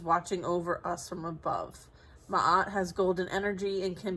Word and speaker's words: Ma'at: Says Ma'at, pronounced Ma'at, is an ancient Egyptian deity associated with truth, harmony, and balance.